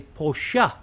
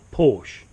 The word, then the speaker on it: Porsche: The same as you would say Porsche, not Porsche.